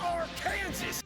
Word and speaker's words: Arkansas: It's pronounced Arkansas.